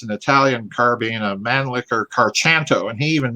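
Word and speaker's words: Mannlicher-Carcano: We've been reporting a Mauser, and apparently it's an Italian carbine, a Mannlicher Carchanto, and he even mispronounces it. 6.5 Italian Mannlicher Carchanto.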